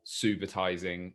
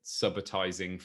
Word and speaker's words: subitising: the very beginning how we are going to pronounce subitising or subitising for the rest of this episode. Mea culpa, I pronounced it subitising for a couple of years and then moved